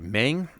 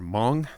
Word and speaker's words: Meng: 00 this kit is by mang or Mong depending on how you want to pronounce it and is an extremely